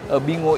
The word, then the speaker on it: Binguo: Jadi nama resminya adalah Bingo. Bacanya tetap Bingo sih.